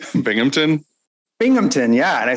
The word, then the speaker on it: Binghamton: by bennington how do you say it binghamton binghamton yeah and i said yeah it is